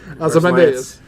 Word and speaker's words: Ozymandias: Ozymandias.